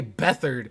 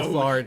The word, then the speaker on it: Beathard: Beathard why is that not pronounced beat hard? It's not beat hard. It is. I know Beathard who C.J. Beathard is. I know. Bethard.